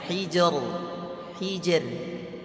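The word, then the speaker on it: حِجْر: Bukan naik suaranya, hijr. Hal fi dzalika qasamul lidhi hijr, tipis.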